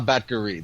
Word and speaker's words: Batgarel: We had Dana Batgarel versus my pal. Okay, stop. Yes? I have to. Okay, it's Dana Batgari. The last L is silent. Something about the Mongolian language.